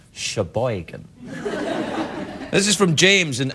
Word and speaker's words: Sheboygan: right let's just rumor is that how you say it Sheboygan well unless you're doing this your boy can accent and it's Sheboygan this is from James